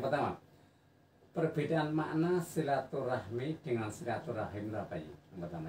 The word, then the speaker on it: silaturahim: Jadi bahasa Indonesia serapan itu biasa diucapkan dengan silaturahmi. Rahmi itu aslinya kalau dalam bahasa Arab itu adalah wadah anak kui. Tapi kalau rohim itu saudara. Jadi kalau menggunakan bahasa Arab yang benar ya silaturahim.